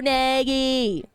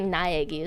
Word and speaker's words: Naegi: Makoto Nagi! Wait, it's like Naegi, isn't that his name? I always pronounce it wrong.